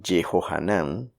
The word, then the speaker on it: Yehohanán: El nombre de Yehohanán, querido por Dios, es como se pronuncia Juan en arameo.